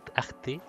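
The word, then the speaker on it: Ahti: Y luego tenemos a Ati, yo lo llamo Ati, porque no pronuncio la H, pero que también seguimos sin saber absolutamente quién se supone que es.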